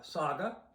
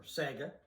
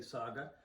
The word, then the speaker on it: Saga: from Oakville Ontario uh Saga for Sega depending on how you say it I say Saga anyway this is called